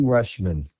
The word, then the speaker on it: Rutschman: Rutschman? Adley Rutschman.